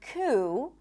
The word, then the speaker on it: coup: And also in the word coup, there is no P, even though it's in the spelling. Coup.